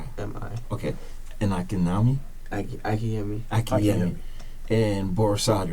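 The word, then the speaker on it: Akinyemi: Akinai? M-I. You pronounce it Akinai? A-K-I-N-Y-E-M-I. A-K-I-N-Y-E-M-I. M-I. Okay. And Akinami? Akiyemi. Akiyemi.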